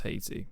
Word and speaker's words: Haiti: Haiti is not actually pronounced Haiti. How is it pronounced? It's actually technically pronounced Haiti. Haiti. The H is silent.